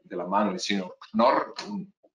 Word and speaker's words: Knorr: Nace a principios del siglo XX de la mano del señor Knorr, una palabra alemana muy difícil de pronunciar, con una K y N que se siguen, dos consonantes duras. Knorr-Bremse, yo recuerdo que una